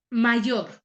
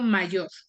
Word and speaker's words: mayor: tónica de esa palabra cuando yo menciono mayor Cuál es su sílaba tónica yo digo Mayor Mayor tiene o es su sílaba tónica cierto pero por qué no